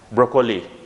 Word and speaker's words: broccoli: Sometime I have found you that you used to mispronounce this word as broccoli, right? But it's not that, it's broccoli. What is it? Broccoli. It's broccoli. Okay? Broccoli. It's the name of a vegetable. Broccoli, not broccoli. If you are going to say broccoli, it's going to be mispronounced. So try to keep that in your mind, that it's not broccoli, but it's broccoli.